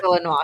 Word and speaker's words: Illinois: We say it's pronounced Illinois, just in case you didn't know.